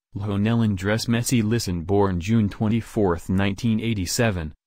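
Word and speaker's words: Lionel Andrés Messi: Spanish pronunciation, Lionel Andres Messi.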